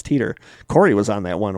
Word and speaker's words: Titor: some of the stuff yeah yeah it's teeter cory was on that